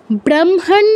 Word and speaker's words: ব্রহ্মণ: ব্রহ্মণ ভাস্বতে, নয়ের নিচে খেয়াল করে দেখুন ছোট্ট একটা দাগ আছে, হসন্ত আছে, তো এখানে নয়ের কিন্তু পূর্ণ উচ্চারণ হবে না, ব্রহ্মণ, ব্রহ্মণ কেউ বলবেন